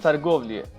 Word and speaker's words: торговля: And negotiate in Russian is торговля, pronounced торговля, right?